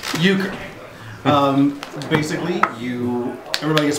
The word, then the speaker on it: euchre: scorecards right yes i do sweet all right euchre um basically you everybody gets five cards how do you spell it euchre e u c h r e